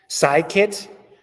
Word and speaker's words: scikit: Scikit. So like science, yep.